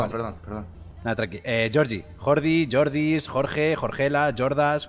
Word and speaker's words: Georgie: menos cómo se escribe Georgie, Georgie. Ah, Georgie. Vale, Georgie. Con G. Tienes que pronunciar bien la G. Como si Georgie. fuese a echar. Ay, como si fueras a echar un guapo.